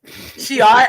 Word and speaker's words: Shi'ar: The thing that I had to use was like, not she is, Shi'ar. Shi'ar.